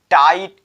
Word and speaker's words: tight: जब भी जीएच किसी भी वर्ड के बीच में आ जाए तो समझ लेना उसका लोप हो जाता है, वह साइलेंट हो जाएगा, इसका लोप होगा। और एक एग्जांपल, टाइट, TIGHT, उसके बाद नाइट,